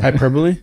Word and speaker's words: hyperbole: be go back to I never knew how to pronounce that word by the way hyperbole that's how you say it yeah I've always read